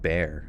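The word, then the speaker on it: Bexar: r is is pronounced bear bear county wow that's crazy that the X just it's a silent x what my favorite dog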